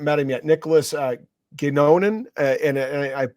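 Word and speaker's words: Godignon: him yet Nicholas uh gonan and I'm butchering it because it's a French name it's spelled g o d i g n o n gon okay um who's a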